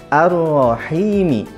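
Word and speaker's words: الرحيم: menekan makaronya tekan begitupun pada kalimat Ar Rohimi jadi harus ditekan roknya Jangan sampai tidak ditasdikan karena banyak diantaranya yang membaca Arrahman arrohim harusnya allahman Ar Rohim Oleh sebab itu di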